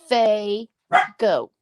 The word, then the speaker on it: Fago: Diane Fago, Fago. I don't know how she pronounced her name. I just know her as Packer by her old name, Packer Die, but I don't know really how to pronounce her real name. Well, I asked Rosemary what, Jean? I like her work. And she's a gluer like me. APG said, Faye, go.